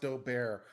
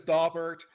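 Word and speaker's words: Daubert: too isaac bowles if someone says pronounced doe bear fine i learned it as dabert it will always be dauber to me i live just outside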